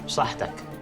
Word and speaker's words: saħħtek: You scoop in, you say saħħtek.